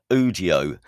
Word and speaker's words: Udio: Am I pronouncing that right? I think so. Yeah. Udio. Yeah. Okay. So Udio, so Udio is facilitating an absolute deluge of music already, and this can only increase, can it?